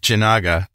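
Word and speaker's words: Jinaga: So your product, Janaga, did I say it right?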